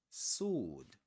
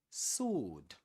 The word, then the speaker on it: sword: Sword. Sword. What about this one? Sword. Here the the W is silent. We don't pronounce it. We say sword. Sword. We don't say we don't say sword.